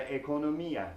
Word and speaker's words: economía: The economy in Spanish is la economía. La economía. This time we do have an accent on the I.